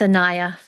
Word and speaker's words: Anaya: saying your name right when I say Anaya? Is that correct pronunciation? Yes, it's Anaya.